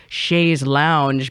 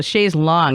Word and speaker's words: chaise longue: And, you know, even like Chaise Longue, I was saying it wrong, or I was saying it incorrectly because we've so Americanized that as like Chaise Lounge because we're terrible at like speaking anything that's, you know, so Chaise Longue, it took me a while to say it correctly.